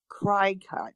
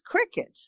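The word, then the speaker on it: Cricut: of how it's spelled you might be tempted to call it cry cut but that would be wrong the name of this little machine which is what it is a little machine is not cry cut it's cricket it's how you say it all right right but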